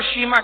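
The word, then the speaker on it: شیماء: شیمہ بنت حارث۔ شیمہ، اکثر لوگ اس کو شیمہ کہتے ہیں، تلفظ اصل شیمہ ہے زبر کے ساتھ۔ شیمہ بنت حارث، میں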